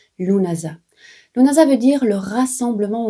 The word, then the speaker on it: Lughnasadh: Oui, parce que même si ça s'écrit Lughnasadh avec plein de S, de D, de H, ça se prononce vraiment Lughnasadh.